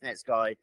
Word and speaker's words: Netsky: For me, it's net sky. That's how it's spelled. That's how I've always said net ski. That's how he pronounces it.